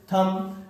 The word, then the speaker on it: thumb: THUMB थम।